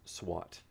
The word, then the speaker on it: SWAT: that's what SWAT means so we take the first letter of each word SWA T and we say it as a new word so this is an